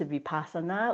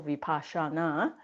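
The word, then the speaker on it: Vipassana: But you also hear of awareness mindfulness and vipashana and even vipashana there's different pronunciations vipasana or vipashana.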